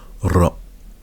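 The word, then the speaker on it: راء: Ensuite, on a la lettre ra. Il faut rouler un peu. Ra.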